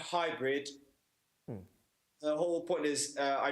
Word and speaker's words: Haibrid: Hybrid, as in how we Yes. pronounce it.